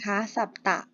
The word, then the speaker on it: สัตตะ: อย่าง แรก นะ คะ คำ ว่า สับ ตะ นะ คะ สัตตะ อ่าน ว่า สัตตะ ก็ คือ ตัว เลข